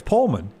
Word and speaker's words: Pullman: Um but that's how they pronounce it up there. It's not Pullman like me. It's Pullman.